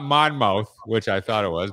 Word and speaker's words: Monmouth: I worked with his group in Monmouth. Did I say it right? Right. It's not Monmouth, which I thought it was, but it's Monmouth.